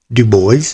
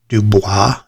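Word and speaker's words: DuBois: the Elks Theater and that is pronounced du boys not dub as you might think it's dub boys and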